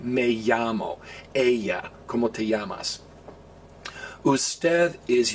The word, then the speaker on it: ella: Now be careful, it looks like Ella, like that movie Ella Enchanted, but it's pronounced ella. Remember, you don't say como te llamas, you say como te llamas.